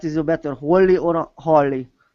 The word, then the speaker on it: Holly: um that's one thing my name actually is Holly but a lot of people want to call me holy um and so I always try if I can pronounce people's names I try I really try to because I don't like to be called holy and so even though it looks like it it's Holly and um so I try